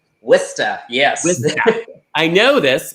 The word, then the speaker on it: Worcester: I know you pronounce your town, it looks like Worcestershire, but you pronounce it Worcester. Worcester, yes.